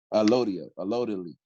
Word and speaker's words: allodial: I can't really pronounce the word the way you say it. It's okay, allodial? Allodially.